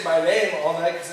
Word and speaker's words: Balaam: His name is Balaam, and the way it's pronounced is actually Balaam.